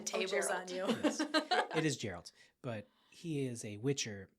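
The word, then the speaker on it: Geralt: It is Gerald.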